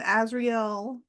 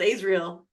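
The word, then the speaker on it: Azriel: like and hear that so it's Cassian azreel so you know how to pronounce his name okay I would have pronounced it Israel Amron and then see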